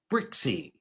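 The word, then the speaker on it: Brzykcy: On Saturday, um, the Nationals pitched Zack Brixie, spelled his last name, BRZ Y C. I repeat, B R Z Y K C K. That's Zack Brixie.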